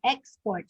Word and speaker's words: export: Okay, and then we also have export. Okay, export. So have you observed that? Have you observed that? So the stress is on the first syllable.